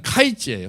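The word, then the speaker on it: קַיִץ: 여름 과일은 카이츠예요. 카이츠. 너가 뭐가 보이니? 카이츠가 보이는데요. 그랬는데 끝은 캣즈입니다. 이스라엘에 캣즈가 올 거야.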